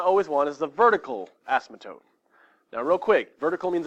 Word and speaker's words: asymptote: It looks like it's asymptote. But you say it faster, asymptote, that's how you say it.